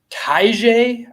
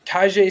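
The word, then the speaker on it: Tyjae: let me get it Taija I think is how you say it tajai Spears yeah um had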